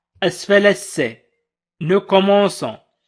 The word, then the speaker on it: commençons: إن لم تكن هذه العلامة على شكل 5 أسفل الC واسمها CD فسنقول nous commençons quand سننطق quand وليس son quand. لذلك أضفنا علامة على شكل 5 أسفل الC لنقول nous commençons.